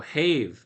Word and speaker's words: have: Uh it is not as we are apt to suppose a bad rhyme. He probably pronounced it like that. Have If thou have Oh, have. That's what he's saying to rhyme with cave.